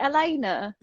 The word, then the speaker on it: Elena: I pronounce her name is it Elena yes see you guys tonight